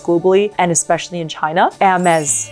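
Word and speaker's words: Hermès: So the H, when it's in the very front of a word in French, goes invisible. It's like, again, you don't see it, especially if it's in front of a vowel.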